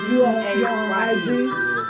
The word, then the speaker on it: B3AY3: B-A-Y-E. So the E is a 3. B3AY3. But it's pronounced Bay.